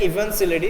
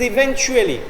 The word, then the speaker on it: eventually: actually even selects eventually the daughter pronounced in such a way that it it seemed like even silly there is no such word as even silly it is eventually okay eventually what's even